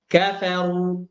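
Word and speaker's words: كفروا: ya Kemudian yang kedua ro dibaca tebal itu ketika ro berharakat dah kafaru kafaru kafaru Bima ya kemudian yang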